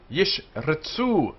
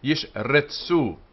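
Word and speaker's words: ישרצו: There are two shwas here. The first is the syllable divider, this one here. And the second is the half vowel starting off the second syllable. Ritsu. In the Spanish and Portuguese pronunciation, this is slightly more pronounced than it is in the Ashkenazi.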